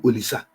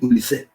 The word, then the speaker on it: Olise: But they call it Olise. Just like Obase. They call him Sunday Ogochukwu Olisa. But it is Olise, the way they pronounce it and the way they write it in their own dialect.